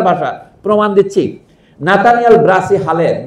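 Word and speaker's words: Halhed: নাতানিয়াল Brassey হালেদ, যাকে ভুল উচ্চারণ অনেকে হেলহেড বলে, সেই হালেদ সাহেব তিনি নিজের নাম বাংলায় হালেদ লিখতেন, হ আকার ল আকার দ।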